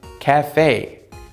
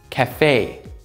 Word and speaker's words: cafe: 그리고 여러분, 한국말로 카페, 까아아아아에서 그 강세 있잖아요. 영어로는 E에 있어요. 그래서 카페. 그리고 미국에서는 A 소리는 에, 에. 이 소리랑 더 가까워요. 그래서 cafe, cafe.